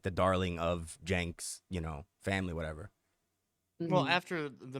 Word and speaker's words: Cenk: Like Cenk is, It's pronounced Jank.